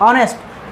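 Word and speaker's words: honest: दोनों एच से ही है, दोनों का स्टार्टिंग अल्फ़ाबेट क्या है? एच है, बट इसका प्रोनाउंसिएशन क्या है? होटल, और इसका प्रोनाउंसिएशन क्या है? ऑनेस्ट।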